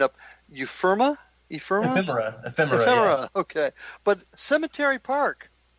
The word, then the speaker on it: Ephemera: the other one, and I always mess the pronunciation up, Ephemera? Ephemera, yeah.